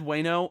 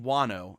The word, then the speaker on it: Wano: i'm looking it up i've always said wayno but i do think some people say all sorts of stuff on it but uh i'm trying to think of how it would be pronounced in japanese it's probably pronounced wano if i were if i were to actually say it it's probably pronounced wano because yeah it's one no um so it's probably